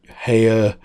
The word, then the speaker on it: Haier: But now they've been taken over by the Haier, I think you pronounce it Haier, H-A-I-E-R, I think, group, who are a huge Chinese multi-conglomerate.